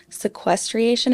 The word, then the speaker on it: sequestration: I said carbon sequestration. How do you say it? It's carbon sequestration. You added a syllable.